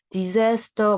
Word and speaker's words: disaster: dis가 붙어있고 뒤에 또 s면 disaster 이렇게 읽거나 disaster 뭐 digester 막 이렇게 읽고 싶겠지만 z 발음이에요.